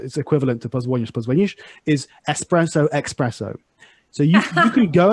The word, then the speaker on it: espresso: duty to then add by the way espresso is how it's originally pronounced in italian um the preferred option is espresso but some people say expresso um and to not